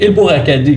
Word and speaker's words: El-Bourakadi: Parce que mon nom de famille est un peu difficile en français à prononcer. Donc, c'est El-Bourakadi. Quand on le prononce, c'est facile, mais quand on le voit écrit, c'est un peu plus difficile.